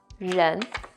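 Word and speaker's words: 人: by itself it means person and it is pronounced as Jen okay when Jen is used as a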